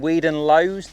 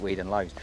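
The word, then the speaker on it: Weedon Lois: Now don't get in the comments telling me I've pronounced that wrong because I've just asked them and they reckon that that's how you pronounce it. Weed and Lowe's.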